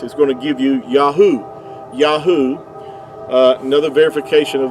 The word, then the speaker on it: Yahuah: Uh Yahoo would give you the sound. Um these three letters here the ye the yod yad and the he and the ua would give you yahoo and uh even Benjamin